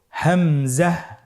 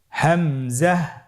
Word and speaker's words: হামজা: হামজা হরফটি উচ্চারণ ক্ষেত্রে বারিক করে উচ্চারণ করতে হবে এবং এখানে টেনে পড়া যাবে না, দ্রুত পড়তে হবে। আপনারা আমার সাথে বলুন হামজা। হামজা।